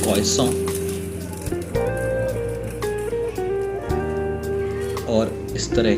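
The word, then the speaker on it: croissant: बहुत सारे bakery items, ये मेरे सामने दिख रहा है, इसको प्रोनाउंस करते हैं क्रोइसॉन, और इस तरह के सारे बेकरी आइटम्स जो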